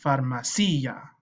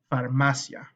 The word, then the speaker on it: farmacia: Notice that this I does not have an accent, because if it did, it would be pronounced farmacia, but it's not. It's pronounced, repite, farmacia.